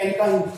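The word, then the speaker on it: alkyne: एल्केन, एल्कीन, एल्काइन, इनमें थोड़ा सा डिफरेंस है। इसमें ANE है, इसमें ANE है, इसमें YNE है, तो इसको आइन बोलेंगे, इसका प्रोनाउंसिएशन आइन होगा।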